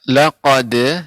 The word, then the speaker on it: لقد: Ya, laqad ya. Di sini dia tipis ya. Laqad khalaqu, ketika qaf baru dia tebal.